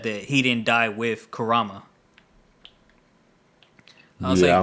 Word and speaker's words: Kurama: And Naruto and Kurama did this new Karama. Kurama, whatever. Fuck you. You the one mispronouncing his name.